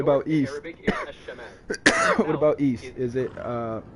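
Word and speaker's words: الشمال: In Arabic, the north is said as Ash-Shamal. Ash-Shamal. And then south is Al-Janub, right? Exactly. You've got it right. What North about east? In Arabic is Ash-Shamal.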